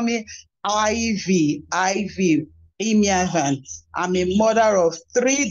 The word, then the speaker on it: Ivie Imiavan: a little bit uh, to pronounce that name, Ivie. You can also call me Ivie, Imiavan.